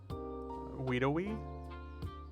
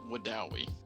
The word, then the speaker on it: Wedowee: Wedowee? It is actually called Wadawi.